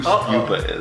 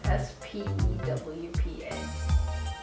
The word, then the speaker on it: Spewpa: I don't know who Spupa is.